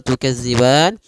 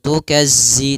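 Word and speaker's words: تكذبان: fabiayyi alaibbikuma kemudian tukadziban hati-hati pada lafal tukadziban di sini jangan dibaca dengan za jangan tukazzi tapi tukadzib panjang ban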